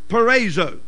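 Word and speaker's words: peirazo: o p e i r a z o pronounced perzo now this word perzo and I'm going to read it two or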